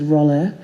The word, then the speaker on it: Rolla: My surname is Rolla. It's spelled R-O-L-L-A. It's spelled phonetically.